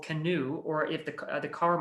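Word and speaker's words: Canoo: an electric company called canoe or if the the car might be called canoe like spellback canoe like paddle well no it's spelled c-a-n-o-o and it's actually taking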